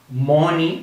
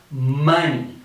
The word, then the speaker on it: money: now many times people for this word say moni or something similar the correct pronunciation is like if you're making this sound and we're going to say money okay so correct pronunciation first me then you